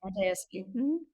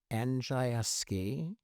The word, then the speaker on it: Andrzejewski: Andrzejewski. Do I say it right? Andrzejewski. Patricia Mae Andrews in Polish. It's like really common, like Smith. Andrzejewski.